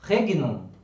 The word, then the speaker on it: regnum: muita gente pode assim regnum não é rede não porque porque o reino porque é GN as pessoas vão falar rede não mas não é rei não porque a comune Itália o gene ele tem é assim ao mesmo valor para nós tem o NH certo então é o som